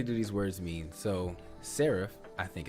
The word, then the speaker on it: serif: So, serif, I think it's pronounced.